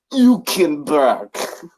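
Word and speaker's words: Hülkenberg: the Viking and Nico you can back don't ever pronounce it like that again please that's actually how it's supposed to be pronounced well that is how it's pronounced I'm referencing back to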